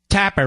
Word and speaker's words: Tapper: hell's Jake Tapper anyway Tapper rhymes with clapper there you go